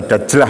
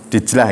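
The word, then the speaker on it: دجلة: kan ada sungai besar sungai dijlah atau dajlah bacanya dijlah ng nah sungai dijlah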